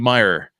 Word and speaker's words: Muir: me this he goes if you say it like it's Irish or Scottish you could nail it so it's awesome okay Matthew Meyer there you go um